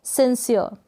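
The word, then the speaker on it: sincere: Next one इज, क्या है ये, सिंसियर। सिंसियर पढ़े या सिंसियर, यानी अ के बाद में हल्का सा आधे र का उच्चारण आप कर दें तो भी चलेगा, और ना करेंगे तो भी करेक्ट होगा।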